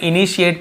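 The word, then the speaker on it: initiate: please, कृपया, ठीक है, कृपया क्या कीजिए आप, इनिशिएट, इसे हम इनिशिएट पढ़ेंगे, ध्यान रखेंगे, स्पेलिंग थोड़ा अलग है, हम इसे क्या पढ़ते हैं, इनिशिएट, इनिशिएट मी, इनिशिएट का मतलब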